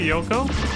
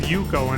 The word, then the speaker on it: Yoko: out her name, and most of the time he will say Yoko, but there's one recorded voice line he'll sometimes say where he says Yuko instead.